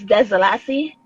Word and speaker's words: Dzhelasi: it's Desalassi.